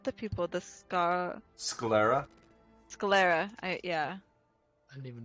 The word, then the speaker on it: sclera: Not the pupil, the Sclera?